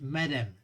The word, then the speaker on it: madam: pronunciación es diferente no nosotros en inglés acentuamos en la primera decimos madam no decimos madam no madam madam y luego tenemos policeman